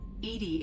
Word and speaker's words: EDI: why are you named edie edie is the phonetic pronunciation of edi that is an acronym for enhanced defense intelligence where are you my